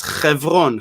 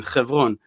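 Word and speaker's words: חברון: Actually, Chevron, if you would pronounce it in Hebrew, would be the way we pronounce it, which is Chevron. Chevron.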